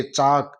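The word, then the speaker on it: chalk: देते हैं इसी तरह सीच एल के के से पहले एल आ रहा है एल को भी हम साइलेंट करते हुए सी एच ए के चाक चा के हम इसका उच्चारण करेंगे इसका शुद्ध उच्चारण है वह चाक होगा इसी तरह यदि एम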